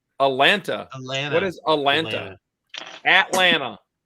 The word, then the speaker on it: Atlanta: It's nobody pronounces the second T.